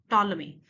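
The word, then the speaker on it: Ptolemy: Then third जो main writer है that is called the टॉलमी, means टॉलमी, पी जो है इसमें साइलेंट होगा।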